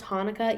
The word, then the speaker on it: Hanukkah: two words right here they're still pronounced hanukkah even though it looks like it starts with a ch sound but those are just